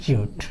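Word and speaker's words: chute: ठीक ना, इसको CHUT इसको शूट पढ़ते हैं। ठीक है, कभी कभी लड़के इसका उच्चारण गलत करते हैं।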